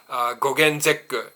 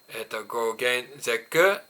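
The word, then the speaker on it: gogon zekku: Gogen zekku in Japanese. Japanese say gogen, gogen zekku, and shichigon zekku, right?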